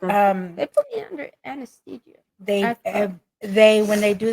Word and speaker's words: anesthesia: they uh they they put you under that Anthology anesthesia said it right anthia yeah yeah a little